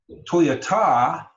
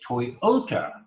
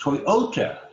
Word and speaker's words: Toyota: certain way of accenting we don't say Toyota we say Toyota that middle syllable is emphasized Toyota if we fit house